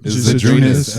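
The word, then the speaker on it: Žydrūnas: You Isn't it say his name Zadrunas? right. Zydrunas Ilgauskas.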